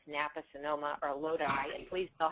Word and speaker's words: Lodi: it's napa sonoma or lodi and please know how to pronounce the it is not low d and i've had that